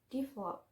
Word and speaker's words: develop: And then is three syllable word with the stress in the second syllable is develop, develop.